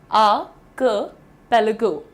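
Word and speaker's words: archipelago: द्वीप समूह को प्रोनाउंस करना है आपको आर्किपेलागो, आर्किपेलागो। अब अगर आप क क की जगह हल्की सी ई की मात्रा लगाना चाहते हैं, बेझिझक लगाइए, आर्किपेलागो, आर्किपेलागो,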